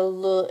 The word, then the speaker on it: le: Be sure to distinguish between the pronunciation of le and les. In spoken French, that is often the only way to tell the difference between a singular and a plural noun.